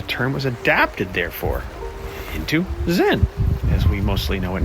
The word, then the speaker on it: Zen: And then Zen, traveling up remember, 10th to 12th century to Japan, is the Japanese pronunciation of the same Chinese character Chan. So think Chan, Zan, Chan, Zan, Chan, Zen, right?